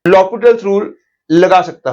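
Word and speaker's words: L'Hôpital: तो अब मैं लॉपिटल्स रूल लगा सकता हूं। ध्यान रखो, कई लोग एल हॉस्पिटल बोलते हैं, वो करेक्ट प्रोनाउंसिएशन नहीं है। Correct pronunciation is लॉपिटल्स rule, H उसके अंदर साइलेंट होता है।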